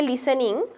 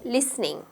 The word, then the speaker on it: listening: play listening to music we don't say listening okay we say listening so work on the proper pronunciation when we are doing